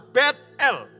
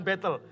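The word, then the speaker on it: Betel: Lus dan Yakub menggantinya menjadi kota betl bacanya bukan battle battle artinya rumah Tuhan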